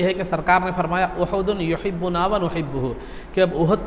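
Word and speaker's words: أُحُد: احد کہا جاتا ہے۔ بہت سے لوگ احد بولتے ہیں، اصل اس کا تلفظ احد ہے، الف کے پیش کے ساتھ بھی اور ہا کے پیش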